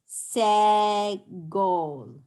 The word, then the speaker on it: segol: How do we pronounce segol? Ooh. No. Right? It says like in bed.